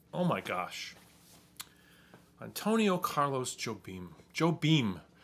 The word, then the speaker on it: Jobim: nova's over there uh it's jobim i think is actually how you say it in portuguese i'm not even sure